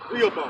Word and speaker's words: Rehoboam: Rehoboam. Yeah, that's his name. Rehoboam. That's how you pronounce it.